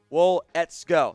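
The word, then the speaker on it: Waletzko: matt let's go out of north dakota matt wool ets go that is how you pronounce that one not easy to say i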